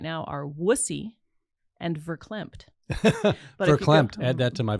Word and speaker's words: verklempt: The only words I can think of right now are wussy and verklempt. Verklempt. Add that to my vocabulary. Verklempt. Oh, emotional in a way that you can't speak. I have seen you verklempt.